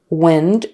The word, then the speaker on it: wind: powered the turbines so wind eh with a short I wind wind is the verb wind and that's with a long i i Wind we need